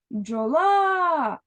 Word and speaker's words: бджола: повертаємо наше слово отже бджола куди падає наголос правильно на другий склад тепер Порахуй скільки букв